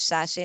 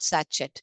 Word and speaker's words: sachet: Va sache you read this as sache not sachet give me one sachet of uh o rs it's not that way it's sache okay search over here this